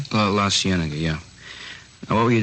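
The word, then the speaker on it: La Cienega: Uh Las Sigenega. Is that how you say it? La Sienna.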